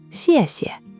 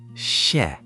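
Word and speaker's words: 谢谢: The second, xie, is neutral, light and quick, no tone at all. Listen. Xièxie. Try the first syllable alone. Xiè. Xiè. Good try. Just soften that X. In Pinyin, X isn't like the English X in box. It's a soft hissing sound, somewhere between S and Sh with your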